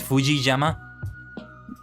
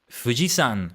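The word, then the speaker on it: 富士山: you say Mount Fuji in Japanese is it Fuji Yama Fujiyama I think it's Fujiyama literally let's have a look at it fujisan no it's not Yama it's not Yama it's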